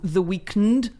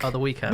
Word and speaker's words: The Weeknd: or why they voted and there's someone called the weeknd i think the weekend the weekend all right well it's spelled yeah so it's felt like weekend anyway